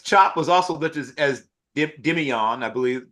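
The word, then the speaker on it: Demeioun: happens a lot draft time because Chop was also listed as Dimion, I believe. Dimion, I think that his name is pronounced.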